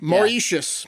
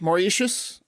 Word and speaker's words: Mauritius: i practiced this before mauricious mauritius i think it's m-a-u-r-i-t-i-u-s i think it's more yes uh have you